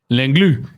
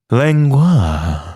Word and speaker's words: Langlois: Langlois? How do you say his name? Langlu. Langlu. Langlu. Langlu. Langlu. Now, the internet here is poopy. New patron, Rick Langlu. Glue. Mootron. Langlois. No, Langlu.